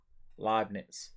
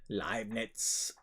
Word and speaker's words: Leibniz: you're saying right okay leibniz okay that's similar similar if his next comment is Right a knits in German it's spelled it's pronounced nothing like knit leibniz it sounds more aggressive